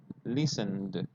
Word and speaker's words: listened: Listen finishes with the n sound. Now, the spelling is with ed, but the pronunciation is like this. You have to say listen, listened, right? That's how it sounds.